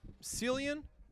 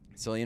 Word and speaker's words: Cillian: We both had the same issue, which was that they clearly just got Cillian. Is that how you say his name? Cillian Murphy, yeah.